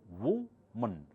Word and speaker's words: woman: It's written as woman, but pronounced as woman, woman, woman.